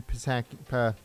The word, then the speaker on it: Psaki: Don't forget to share the live stream on social media as we get ready for Jen Psaki. The P is silent, according to some people.